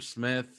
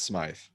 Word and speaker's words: Smythe: don't know although durham smith or smythe or whatever his name is because now there's evidently two pronunciations but durham he says it's smythe okay so i'm gonna i'm